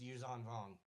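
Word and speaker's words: Yuuzhan Vong: But it is pronounced Yuzong Hong even though it looks like Jean.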